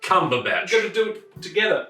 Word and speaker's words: Cumberbatch: patch butterscotch comfortable pants now we're going to turn the camera and say it right say his name right okay great one two three benedict cumberbatch you gotta do it